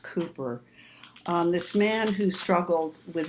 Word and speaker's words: Cowper: Then we have this incredible poem by William Cowper, C-O-W-P-E-R is pronounced Cooper.